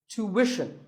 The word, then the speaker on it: tuition: hidden sound here well the first syllable is easy to American or to British but after that it's not ition it's Wishon tuition you have to put the what sound there so too word number 41